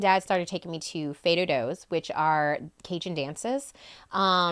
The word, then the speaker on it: fais do-do: started taking me to Fat Do's which are cun dances um how do you say it fedo f yeah f a i s d o d o um the term